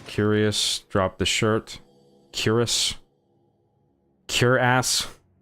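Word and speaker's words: Cuirass: Cure ass. Queer ass. Queer ass. That's the word. I was wondering how to pronounce it and I figured it out. Queer ass.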